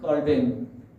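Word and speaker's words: Calvin: 근데 종교개혁자 중에서 우리가 칼빈이라고 알려진 깔뱅, 월 발음이 깔뱅이라고 하는 이 종교개혁자가 이것을 다시 다르게 해석을 했습니다.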